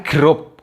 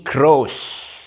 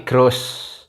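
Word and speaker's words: groß: nih kalau misalnya ini ini bukan grup guys bacanya bukan grup ini grows jadi GR OSS Jadi bukan grup ya tapi grose Oke GR OSS jadi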